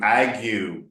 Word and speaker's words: ague: Heard, word, written, you, ague. So you don't know how to say that? You know it rhymes with you.